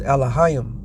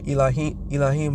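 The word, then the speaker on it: Elohim: the first chapter is alah alah all right they will tell you elim but it's not that's not how you pronounce it it's Al which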